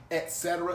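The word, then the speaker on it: etc.: term this don't exist there is no X in XC e t say it with me e t x x Etc is the correct way to say it so the next time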